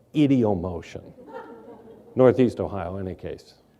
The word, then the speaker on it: ideomotion: I understand that elsewhere in the world they might call it ideomotion, but I pronounce it as you would in Ohio, idiomotion.